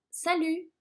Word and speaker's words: salut: Y este saludo sería salut. Salut se escribe S-A-L-U-T y acuérdense de que la T final no se pronuncia en francés.